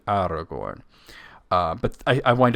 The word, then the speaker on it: Aragorn: trilled in all positions I try to do my best at this though I find it difficult in like AR I say Aragorn a lot Aragorn it's actually Aragorn uh and that his name is indeed cerin so it should be Aragorn uh but I I